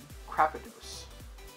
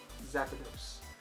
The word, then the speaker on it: Zapdos: And then we have a Full Art Crapidos. Zapdos. That's how you pronounce it, Zapdos.